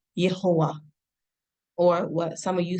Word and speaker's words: Yahowah: And what they did was take the vowel symbols or the vowels of Adonai and put it on the name of Yod He Wav He, coming up with the pronunciation of Yahowah, or what some of you say, Yahowah.